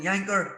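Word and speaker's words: Jancker: of the two giants, Karsten Janker, rhymes with, and Miroslav Klose.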